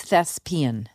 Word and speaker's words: thespian: does by the way it's thespian okay what did I say Bean as in lesbian oh you would love